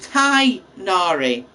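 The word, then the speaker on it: Tighnari: is that you see they pronounce it thai nari so i guess it's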